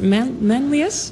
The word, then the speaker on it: Manlius: You started out in a small town in the state of New York called, I hope I'm pronouncing this right, Manlius?